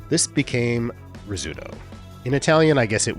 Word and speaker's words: Rizzuto: Shortstop, Phil Rizzuto. This is sort of like Pérez. Even though Americans clearly should know that the double Z in Italian words is a TS sound, like pizza, this became Rizzuto.